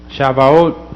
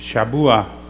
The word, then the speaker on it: Shavuot: Shavuot, a lot of the Yahudim would use that term, and then a lot of the believers use Shabuah.